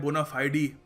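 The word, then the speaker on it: bona fide: इसको देखिए British accent में बोलते हैं बोनाफाइडी और अमेरिकन एक्सेंट में बोलते हैं बोनाफाइड।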